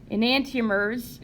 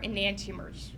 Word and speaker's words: enantiomers: on the board as well so this guy enantiomers is spelled like in ant t/o MERS and antia MERS okay okay so yeah non-superimposable mirror images of one another are enantiomers right so this guy will call this molecule